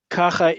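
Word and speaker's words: כָּכָה: And that's exactly how you'll say it. Kacha. You'll go up and down.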